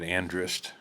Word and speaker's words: Andrist: say your last name correctly yeah you did andrist I think so that's how I've always heard